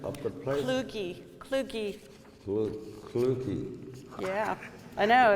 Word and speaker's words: Kluge: Kluge. Yeah, I know, it's tough. Sorry, I have. Rhymes with Scooby.